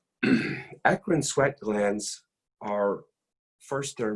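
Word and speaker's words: eccrine: those fairly quickly first major type e-c-c-r-i-n-e it's pronounced akrin akron sweat glands are first their merocrine and function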